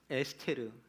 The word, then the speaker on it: 에스테르: 에스테르. 뭐 히브리식 발음으로 한다면 에스테르라고 발음할 텐데요.